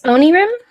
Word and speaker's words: Onirim: I play like is it Onirim or Onira? I don't know how to say it. It's Onirim, if I'm not mistaken.